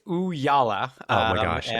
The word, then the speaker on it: Ooyala: It's Ooyala.